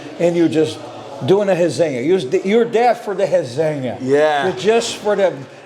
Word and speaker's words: resenha: Resenha. Resenha is spelled R-E-S-E. Now N-H-A. N-H-A in Portuguese, which is a little bit different. It's called nha. Resenha. In Spanish, it'll be resenha. In Portuguese, it's resenha.